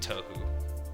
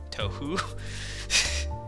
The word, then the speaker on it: Touhou: We're both fans of a game series called Touhou. Touhou? Stop mispronouncing things, man! We're both fans of a game series called Touhou, and he suggested that I should take some